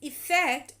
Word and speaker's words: effect: effect now here focus the pronunciation is different effect with the e is known as effect and effect with the a is called affect now meaning change or